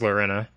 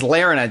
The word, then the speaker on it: Lorena: pronunciation that stuck, but Lorena seems to be what we go with. It flows off the tongue better than Larina. Because Larina just sounds like larynx.